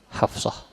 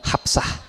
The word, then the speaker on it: Hafsah: Istrinya Rasulullah sallallahu alaihi wasallam namanya Hafsah. Hafsah ya. Ejaan bahasa Indonesia Hafsah. Pakai P dan pakai A. Itu Hafsah. Teu nanaon Hafsah. Pakai F dan pakai shad.